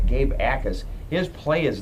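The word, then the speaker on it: Jacas: name is spelled j-a-c-a-s the J is silent it's j Gabe akas his play is not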